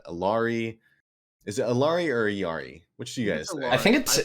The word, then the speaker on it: Illari: yeah let's see ah the official OverWatch pronunciation for the character is Yari so despite everyone saying illari the correct pronunciation according to Blizzard is e that makes sense because